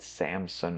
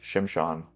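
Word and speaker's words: שמשון: I don't know why the English translators of the Old Testament made it Samson if it's actually pronounced Shimshan. Why would they do that?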